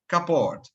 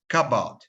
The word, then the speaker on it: cupboard: yes okay so all of us used to pronounce this word kaport kapod however which is a strange it's pronounced kabad Cabot so there is no r Islam where